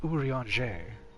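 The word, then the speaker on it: Urianger: is going well speak ufu ranger it's actually pronounced urianje actually it's doth pronounced urianje you got it you ranger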